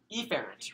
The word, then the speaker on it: efferent: And the reason why I pronounce it like that, you guys, is that it just makes it to sound more distinct. Technically, you'd say efferent, right? But efferent and afferent, right?